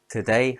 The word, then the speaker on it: today: Today has two syllables stress on day. Today minute has two syllables stress on min.